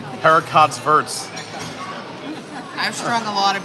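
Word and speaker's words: haricots verts: Also, don't pronounce the T's. Heracott's verts.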